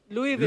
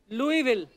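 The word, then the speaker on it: Louisville: आज आगे तभी बढ़ेंगे लुईस जब लिखा है तो स क्यों नहीं बोल रहे हैं जैसे नाइफ में क साइलेंट होता है के साइलेंट होता है वो तो के पहले आता है ये तो बीच में घुसा हुआ है बट कई बार लुईस प्रोनाउंस होता है एस के साथ और कई बार नहीं वो कई क्यों नहीं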